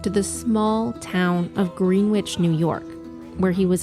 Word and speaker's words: Greenwich: We took you back to the small town of Greenwich, New York, where he was allegedly last seen. It's Greenwich, not Greenwich, say it phonetically.